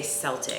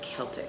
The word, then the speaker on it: Celtic: Well, I think C is hard because everybody wants to say Celtic. Oh, yeah. So at first everybody was like the Celtic Ranch, and it's an educational opportunity. Yes, we were all very much like, no, it's Celtic.